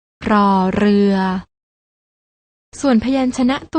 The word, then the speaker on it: ร: ชัด เจน ได้ แก่ พยัญชนะ ตัว แรก น้อง ๆ ต้อง อ่าน ออก เสียง โดย การ กระดก ลิ้น อย่าง นี้ ค่ะ รอ เรือ ส่วน พยัญชนะ ตัว ที่